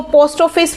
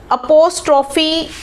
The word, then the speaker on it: apostrophe: तो मैं स्कूल में यूजुअली देखती हूँ कि बच्चे इसको प्रोनाउंस ही सही नहीं करते हैं. कोई इसको पोस्ट ऑफिस बोलता है, पोस्ट ऑफिस एस. बच्चों को पता ही नहीं कि इसको बोलते क्या है.